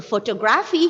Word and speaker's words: photography: right photographic photography so photography here you can apply the rule of y the third syllable from the right and you might have